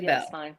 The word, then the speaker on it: Beall: get a lot is the A is silent. Honey, I don't care what you call me. Just don't call me late to dinner. That's what I thought. I have always said Maria Bell, but I wanted